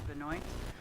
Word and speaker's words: Benoit: The matter before the court is Hancock 24-170 Wells Fargo Bank versus Linda Benoit, on contrary, I guess, to the usual Maine way of pronouncing, which is Benoit.